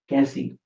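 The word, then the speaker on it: कैसीं: Um, for feminine plural, it's basically you can still say Cassie, but there is a nasalized sound N, Cassie.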